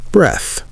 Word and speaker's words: breath: Practice both out loud. Breath, breathe. Breath, breathe. You should feel the difference. Breath is short and stopped. Breathe is longer and open.